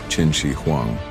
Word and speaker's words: Qin Shi Huang: However, the true unified purpose of the wall emerged with the arrival of the first emperor, Chin Shiuang, pronounced Chinshi Huang.